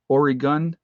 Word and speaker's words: Oregon: I say it right now, don't I? The gun part, Oregon.